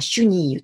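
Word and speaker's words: chenille: で、このシュニーユ、これ今ではシュニーユと読むんですけど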